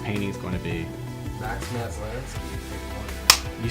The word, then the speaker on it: Maslansky: Max Maslansky.